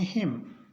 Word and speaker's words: hymn: HYMN, इसको पढ़ेंगे हिम, हिम।